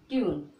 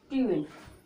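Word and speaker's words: tune: यू का, तो ट्यून। ठीक, ई का उच्चारण नहीं करेंगे, ट्यून।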